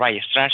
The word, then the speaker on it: Weierstrass: Se suele pronunciar Weierstrass.